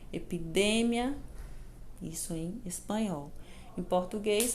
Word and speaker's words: epidemia: palavrinha aqui ó epidemia observa em a maneira que o pronunciei ela em espanhol epidemia não ep de Mia no português nós falamos epidemia no espanhol epidemia então vejam bem existem